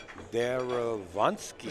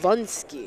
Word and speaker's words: Derewonski: It's Derewonski. Vunsky. Yeah, that's very the way powerful. he pronounces it.